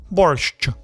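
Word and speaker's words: борщ: Americans say borscht with a hard T at the end. That's wrong. Like borscht or borscht. The correct pronunciation is borscht. Borscht. See that sh sound? It's soft.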